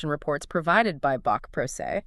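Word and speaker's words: pro se: Rhyming with day. Never proceed.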